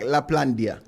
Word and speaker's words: Laplandia: Laplandia. So if you want to break it down, it's like Laplandia. So Let me say it right, man. Laplandia. Yeah, if you think of Lapland, you just go Laplandia.